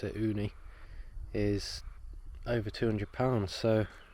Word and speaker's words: Ooni: the idea of cooking a pizza outside the uni pizza oven though and that's how you pronounce it uni is over 200 pounds so i thought we'd